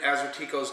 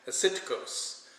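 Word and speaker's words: Assyrtiko: Aceticos is the proper way to pronounce that name. Aceticos. Yeah, that's it. Aceticos. So when you're saying that grape, that's how you would say it.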